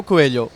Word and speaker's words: Coelho: Yeah, Coelho.